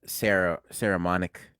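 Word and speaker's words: Saramonic: And I bought a Ceramonic.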